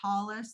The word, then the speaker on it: tallis: me please yes so a tallit or a tallis there's different ways of pronouncing it is an english a